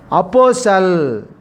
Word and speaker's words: apostle: The silent letter is T. T is a silent letter.